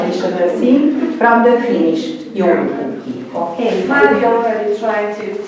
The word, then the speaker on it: joulupukki: That's joulupukki.